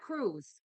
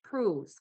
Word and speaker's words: Prus: It's not Cruz. It's Prus.